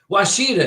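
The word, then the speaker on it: Ouachita: Washita is how it's pronounced.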